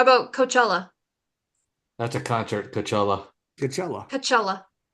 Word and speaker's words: Coachella: Is it Coachella? It's Coachella. Coachella. It's like Kachow. Chella.